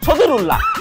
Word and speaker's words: সদরুল্লাহ: হ্যাঁ তাও করছি, নাম হচ্ছে সদরুল্লাহ। অনেকে উচ্চারণ করতে পারে না বলে সদীপ কয়ে দেয়।